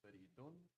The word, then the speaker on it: Faridun: My name is Faridun, or, depending how you say it.